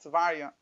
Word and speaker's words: Teveriah: The Rebbe used to pronounce it Teveriah.